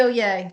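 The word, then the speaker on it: Oyez: on there O Yay o yay yeah o y EZ is pronounced O Yay like Oh yay is your is your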